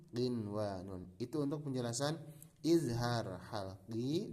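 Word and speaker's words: قنوان: Jadi bacanya bukan buya, bukan duya, bukan siwa atau qiwa, tidak. Tapi ini baca seperti adanya. Bunyanun, dunyaya, sinwanun, qinwanun.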